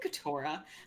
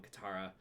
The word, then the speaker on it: Katara: was no cateura or you just say cateura yeah i pronounced it wrong Katara oh I I don't